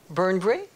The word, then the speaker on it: Burnbrae: Donc, participation financière dans un projet de plantation d'arbres, les fermes Burnbrae, c'est comme ça qu'on le prononce?